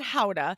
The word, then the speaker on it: Gouda: here yeah so um they pronounce it houda but even when we were over there and we were explaining to the locals where we were going we would say gouda and they had absolutely